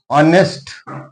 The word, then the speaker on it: honest: Honest not honest. H is silent here.